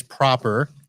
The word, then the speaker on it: PROPR: Your company is Proper, and Yep. it is spelled PROPR, Mm-hmm.